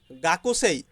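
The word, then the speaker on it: 学生: গাকুসেই, গাকুসেই, গাকুসেই হচ্ছে ছাত্র বা ছাত্রী স্টুডেন্ট, গাকসেই স্টুডেন্ট, গাকসেই স্টুডেন্ট। এখানে গাকুসেই কিন্তু জাপানিজরা উচ্চারণ করে গাকসেই, গাকসেই, গাকসেই, গাকসেই ছাত্র বা ছাত্রী।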